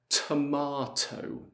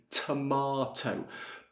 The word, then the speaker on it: tomato: I would say tomato. So I pronounce both T's, tomato. But sometimes in British English we use the glottal T.